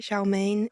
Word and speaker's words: Shaoman: that it is pronounced sinen much like the Gaelic version but it's spelled slightly different some people pronounce it Shain we don't get a